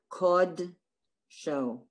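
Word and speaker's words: קודש: T pronounced like ah, only in the word, in variations of the word kodesh, it's pronounced aw. So it's v'shabbat kod show, v'shabbat kod show, not kod show, v'shabbat kod show, and that's correct.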